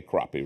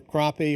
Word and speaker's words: crappie: want us to say crappie, right? Right, yeah. Depending on where you're from in the country, there are two ways of pronouncing. It's either crappie, or here in North Carolina, it's still crappie.